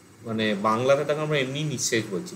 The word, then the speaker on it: নিঃশেষ: নিঃশেষর জায়গায় মানে বাংলাতে তাকে আমরা এমনি নিঃশেষ বলছি, মানে নিঃশেষ এরকম উচ্চারণ হচ্ছে না, বিসর্গ উচ্চারণ হয় না, তাহলে নিঃশেষ হচ্ছে, শয়ে শয়ে হয়ে যাচ্ছে।